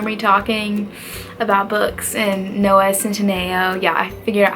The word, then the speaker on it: Noah Centineo: can probably hear me talking about books and Noah Centineo.